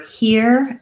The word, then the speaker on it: hear: is the yeah and her words were hear and fear and no we don't really have a ya in those words it's just an e er and uh yeah just